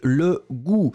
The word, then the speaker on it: goût: n'est pas possible goutte c'est une autre chose c'est une goutte une goutte d'eau par exemple ici c'est le goût j'ai o u accent circonflexe sur le U t effectivement donc ça